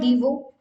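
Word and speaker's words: devour: And there is a word called डीवो, ना, आर is silent here, that means to eat quickly, to eat quickly.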